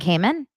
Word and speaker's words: Cayman: Grand Cayman? Grand Cayman? By the way, you have to say Cayman. That's how they say it. They don't say Cayman, they say Grand Cayman.